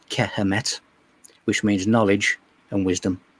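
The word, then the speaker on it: Kemet: We also have the correct Egyptian pronunciation of Egypt, which is Kehemet, which means knowledge and wisdom.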